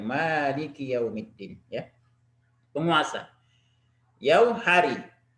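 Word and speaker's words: مالك: Al-Quran kita bisa baca Malik. Tapi ada juga qiraah yang membacanya pendek. Malik Yaumiddin. Ya. Kalau di riwayat Hafs an Asim yang kita baca, sering kita baca, maka mimnya panjang. Malik Yaumiddin.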